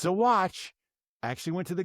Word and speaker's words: Saguache: Okay, we're changing counties here, and we are going to Saguache County, Colorado. Saguache County. Now, I had to look that one up because I want to say it's Saguache, but it's not Saguache. It's Saguache.